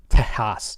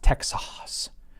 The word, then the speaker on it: Texas: comments on SpaceX news today like it's actually pronounced Tejas Tejas or whatever that's how the the Spanish pronounce it I'm like no it's pronounced Texas so you're wrong in the Spanish are wrong